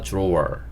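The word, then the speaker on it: drawer: 이렇게 써 놨는데 사실 미국 영화에서 d와 r이 이렇게 붙어 있으면 디귿 소리보다는 지읒 소리에 가까운 소리를 내요 그래서 들어오라고 하기보다는 지읒 소리를 좀 섞어서 이렇게 발음해 주시는게 좋고요 서랍 안에 그러면 in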